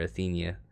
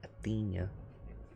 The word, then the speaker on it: Athena: guess i don't know i always like end up calling her athenia so it's a themed i see like that just helps me from not saying athena right i felt like i was doing myself a favor but athena athena pronounce it right for ryan athena so stuart got the